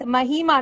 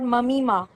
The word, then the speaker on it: Mahima: It's Mahima, not Mamima.